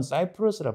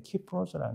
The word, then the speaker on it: 키프로스: 사람이 있으니 이 사람이 지금 말하자면 키프로스 혹은 사이프러스라 발음합니다. 보통 이게 이들이 자기들이 말하는 것으로 발음을 해줘야 되는데 키프로스라는 게 정확한 거죠.